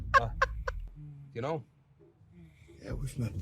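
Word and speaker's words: Phuc: His name is Fahog, but spelled with a PH, so it sounds like... So it's fuck.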